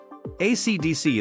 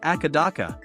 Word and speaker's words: AC/DC: AC/DC is supposed to be pronounced one letter at a time, but reportedly people in Australia call it Akadaka.